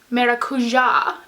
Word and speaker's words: Maracuja: is the a tarte maracuja as my friend told me that it is pronounced because it's Brazilian and she's Brazilian so